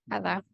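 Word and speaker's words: 하다: Su, suyong hada. Suyong hada. Nadar. Suyong hada. Muy bien. Hada. Ahí el acento está como en el ha. Hada. Suyong hada. Hada suena un poquito Hada. más fuerte por lo general, sí.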